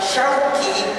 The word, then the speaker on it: Syauqi: Pun ketika tadi orang tua saya memanggil saya dengan sebutan Ustadz Syauqi bener shin, tapi tengahnya huruf kaf, bukannya kof.